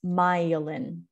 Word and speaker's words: myelin: is phonetic pronunciation so this syllable is the one that is stressed that's why it's in all caps and you pronounce it the way that it looks myelin so you can see